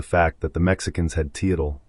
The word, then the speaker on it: Teotl: Bryant neglected to address the fact that the Mexicans had Teotl, pronounced Teot.